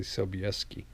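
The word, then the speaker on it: Sobolewski: maybe I'm not now I'm pretty sure I'm getting that pronunciation right when I say sobieski because of the it's a weird thing we do in Poland with our our letters and sounds s.o.b o l w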